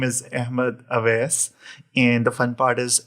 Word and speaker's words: Ahmad Awais: it you know all pronunciations you know all pronunciations were good so so my name is Ahmed AES and the fun part is a is my